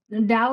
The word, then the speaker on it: Tao: don't for some reason Dow spelled as t even though it is it is pronounced d makes sense to me because that's a paradox in itself to me.